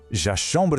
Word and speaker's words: chambre: La prononciation de « clé » est très courte et sèche. « Chomber » a cette sonorité nasale que nous connaissons déjà, « Chomber ».